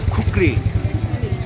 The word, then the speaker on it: খুকরি: ঐতিহ্যবাহী নেপালি কুকি কুকরি আমরা কুকরি বলি বাট একচুয়ালি উচ্চারণ খুকরি খুকুরি একটা দোকান